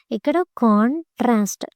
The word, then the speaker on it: contrast: on the second syllable next contrast cont trast first syllable contrast remember now remaining all